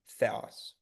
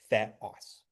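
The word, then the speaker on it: θεός: ha um and then theos. Um note that uh because these aren't one of the listed diff thongs, we're pronouncing the vowels separately. So, theos.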